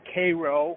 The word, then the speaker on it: Cairo: Now, something also interesting is that in the Memphis, Tennessee area, and Cairo, or Cairo is how they pronounce it, Illinois.